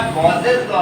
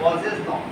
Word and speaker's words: Gauss's law: Pronounce सही कीजिएगा, गॉसेस लॉ है, गॉसेस लॉ।